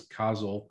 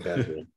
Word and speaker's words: causal: So, part five is causal. Huh, I said it right this time, causal inference. Causal, not casual.